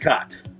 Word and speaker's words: Chott: guy all around David cot it's hot not shot the H is silent thank you yeah you're